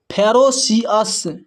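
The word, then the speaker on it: ferocious: यहां पर देखिए एफ ई। एफ ई को यहां पर पढ़ते हैं फे आर ओ को पढ़ते हैं र सी आई को पढ़ते हैं सी ओ यू एस को पढ़ते हैं अस अगर इन सभी को मिला दें तो हो जाता है फेरोसियस फेरोसियस फेरोसियस का मतलब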